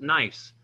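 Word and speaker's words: gneiss: next we have nice the g is silent not good nice but nice it's a foliated metamorphic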